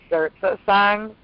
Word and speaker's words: Zersetzung: a Nazi program that started in Germany called Zerzersang. I could spell it for you.